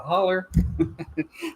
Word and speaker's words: holler: But anyway, that's it's spelled Hollow, but it's spelled like with an ER or an AR. It's pronounced like that.